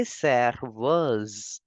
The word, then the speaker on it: serveuse: Serveur for waiter, and for waitress we say serveuse. Serveuse. You can see the S is between two vowels, so we will change the sound of S to Z and we will pronounce it as serveuse.